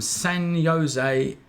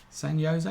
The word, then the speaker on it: San Jose: When this is from Nancy from San Jose in California. Is that how you say it? San Jose? Yeah, it is.